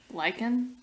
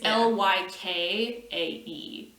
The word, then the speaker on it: Lykae: Lycan? But it's Lykae. Oh. So I think it's Lykae there.